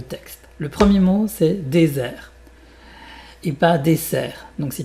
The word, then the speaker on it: désert: Déser et pas desser. Dés un Z. Donc, tu peux mettre à la place du S un Z.